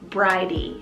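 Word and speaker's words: Bridie: fun peppy vintage feel this is the name bridey spell b-r-i-d-i-e variety it means exalted one and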